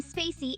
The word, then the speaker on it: Spaicy: his calming demeanor sure my name spacy is pronounced like Spa I see so it's Spa like the word spacious and I like you'd say in the word bit and then sigh like you'd say C put them all together